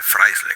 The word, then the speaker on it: Freisler: Mas é Fryler que se que pronuncia, tá?